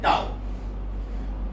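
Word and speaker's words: tau: और इसका प्रोनाउंसिएशन है टाऊ। It's pronunciation is टाऊ। इट्स a Greek alphabet.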